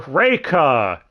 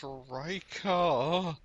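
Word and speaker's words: Reki: we have Raa or raika or raiki they can never pronounce her name consistently it's reica there's no I at the end either where the [ __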